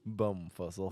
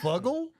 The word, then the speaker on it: Bumfuzzle: Bum fuzzle. Bumfuzzle. Is it fuggle or is it fuzzle? Z, like Okay, like sleeping. Fuzzle.